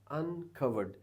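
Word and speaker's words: uncovered: है जज अनकवर्ड अनकवर्ड अब एंडिंग पर जो साउंड आ रही है ना कवर्ड की तो कवर्ड में एंड में साउंड आ रही है डी की ई तो साइलेंट है ना डी साउंड है एंडिंग डी को हम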